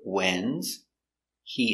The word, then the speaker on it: when's he: Stress on the important word, when's. He is not important, so the H is silent. Link the words together.